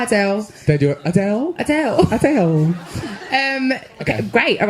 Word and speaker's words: Adele: I'm Miles Galloway, and this is the story of Adele's Rolling in the Deep.